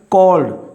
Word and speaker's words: called: Like here is, I have given you example, called. So here is E is silent.